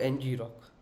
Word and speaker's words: ngrok: application or approach called NG rock or or right we can call en okay it's little bit difficult to pronounce so you can call it any way what you want I would prefer to call NG rock all right so it